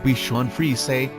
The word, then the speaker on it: Bichon Frise: the become fries pronounced beef chuan free say the plural is becomes